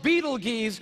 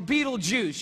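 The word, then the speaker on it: Betelgeuse: about this star it's called Beetle geese or Beetle Juice you can pick your pronunciation I'm obviously going with Beetle Juice and Beetle Juice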